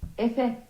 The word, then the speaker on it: Efe: The name is actually Turkish and you pronounce it like... Efe.